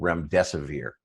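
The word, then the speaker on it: remdesivir: major pharmaceutical company has a drug uh probably mispronouncing this but i believe it's called rem desevere uh and it was originally developed to treat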